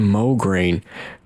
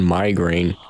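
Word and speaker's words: Mograine: pronounced like moin, but the way I read it sometimes it looks like migraine.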